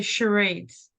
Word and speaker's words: charades: a game of Charities it's spelled funny but it's you say charades charades did a word